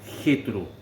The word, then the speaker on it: Jetro: Algunos lo pronuncian Yitro, otros Yetro, pero nosotros lo tenemos en nuestra Biblia en español, naturalmente, con J, y lo pronunciamos como Jetro.